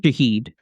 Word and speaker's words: Shaheed: Meyers obviously the Saints wide receiver Rashid How do you pronounce his last name? Shaheed.